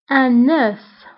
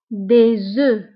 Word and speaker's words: œuf: فهنا غتلاحظوا انه un œuf نطقنا لا lettre F دونك قلنا un œuf. وبالنسبة للجمع او البلوريال قلنا des œufs des œufs فهاد F ما كنطقوهاش في البلوريال كنقولوا des œufs un œuf des œufs.